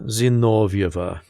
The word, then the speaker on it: Zinovieva: Valeria Zinovieva is how the Russians would say her name.